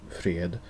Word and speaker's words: fred: which is fred and balm but in swedish pronunciation it actually is quite interesting because both fred freed and malm malm or swedish words fred means